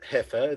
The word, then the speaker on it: heifer: pronounced as so and this word is hether heifer this is a small cow heaven it's also uh e i not i e like friend so all these ways